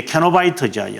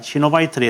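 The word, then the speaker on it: cenobite: 명 바로 이게 이제 캐노바이트죠. 여기서 제가 시노바이트를 했는데 영어 발음이 이제 캐노바이트 이렇게 되죠.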